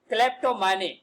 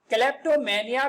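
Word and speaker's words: kleptomania: अगला आज का हमारा शब्द है क्लेप्टोमानी। क्लेप्टोमेनिया भी बोलते हैं इसे हम, लेकिन इंग्लिश में इसका प्रोनाउंसिएशन ए नहीं पढ़ा जाता है, क्लेप्टोमैनी बस इतना ही पढ़ा जाता है।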